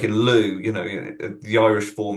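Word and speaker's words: Lugh: Um, you get names like uh like in Lou, you know, the Irish form is spelled L U G H.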